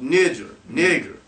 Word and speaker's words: niger: This the Greek 3526 Niger pronounced nijer mhm of Latin black black niger.